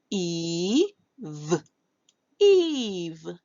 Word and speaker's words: Eve: So the E is going to call its own name because this E at the end that is silent gives power to this E to call its own name. So rather than saying we'll make the sound E, E, and then V, E, V, Eve, Eve, Eve.